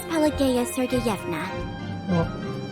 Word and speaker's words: Pelageya Sergeyevna: My name is Pelageya Sergeyevna. Okay, I'm not gonna be able to pronounce it. Pelageya Sergeyevna.